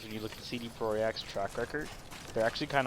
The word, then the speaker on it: Projekt: Because it's Polish. It's Projekt. God damn it. It's the Polish spelling.